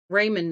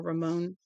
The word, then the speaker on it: Ramon: Raymond Navaro, excuse me, or Ramon.